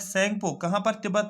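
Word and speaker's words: Tsangpo: इट is also known as संगपो इन तिब्बत, इसको तिब्बत में दूसरा नाम से पुकारा जाता है, टी साइलेंट रहेगा, SANGPO, संगपो इसको बोला जाता है तिब्बत में।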